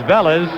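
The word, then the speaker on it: Vélez: loser and here comes Otto Velez or in Spanish it's pronounced velas to bat for Jim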